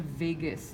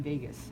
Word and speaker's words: vagus: I always remember that by saying, I left my heart in Vegas. That's how I remember it. It's not spelled the same. This is V-A-G-U-S, but you get the point.